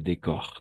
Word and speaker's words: décor: météo exactement c'est ça le décor le décor très bien cette fois-ci oui on va prononcer le r à la fin et l'état d'âme n'est-ce